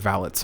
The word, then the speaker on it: valet: exactly what maids and valets are and so i must take a moment to explain it also keep in mind yes you can pronounce valet as valet either one is correct however i think of valet